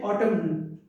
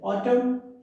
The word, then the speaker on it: autumn: should walk should walk then silent and autumn we don't say autumn and is not pronounced over it autumn silent psychology we should